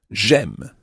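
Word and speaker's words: j'aime: it gem that's right j apostrophe the word for i is j j e but it becomes g apostrophe before a vowel so m is spelled a i m e gem okay so we could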